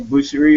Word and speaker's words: Boucherie: Carolina office, joined by Daniel Boucherie. Is that pronounced correctly? Yeah. Daniel Boucherie out of our Raleigh office, and Kimberly Merkel out in our San Diego office.